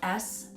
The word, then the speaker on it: Soler: It sounds like a solar system.